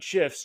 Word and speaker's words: GIF: to make your emails pop by adding animated GIFs in Mailchimp. I'm from Strategy Email, and in today's video, I'm going to cover exactly how to insert animated GIFs directly from Giphy using Mailchimp's tools.